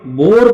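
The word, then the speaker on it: boar: तो जब ओ के तुरंत बाद ए आता है तो उस समय ए का प्रोनाउंसिएशन नहीं होता है। ए साइलेंट होता है।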